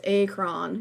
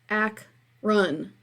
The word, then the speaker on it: Akron: Akron Ohio I telling everyone calls Akron when it's just pronounced like ack run in later years we've